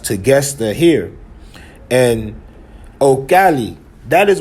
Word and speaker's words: Tequesta: But you also have the Tequesta, but it's pronounced Tegesta here.